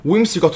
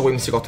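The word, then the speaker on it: Whimsicott: eh wiot va benissimo come il nome wims cot Lo adoro si pronuncia wims cot vero anche dai soldi Quante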